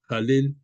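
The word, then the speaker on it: Hallel: te lo había comentado halel se escribe con h se pronuncia como si fuera j jel y estas serie de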